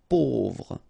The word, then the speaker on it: pauvre: Pauvre. A U together will produce this sound. Pauvre.